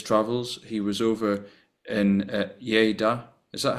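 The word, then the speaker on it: Lleida: He was over in Yaya. Is that how you pronounce it? Yeah. Yaya.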